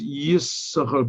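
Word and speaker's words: Yissachar: okay there's a question why it always says yes sahar because you don't pronounce it sometimes some people do yes but usually it's only pronounced yes generally in judaism if there's no vowel under a letter then you don't pronounce the letter unless it's at the end of the word but like here he's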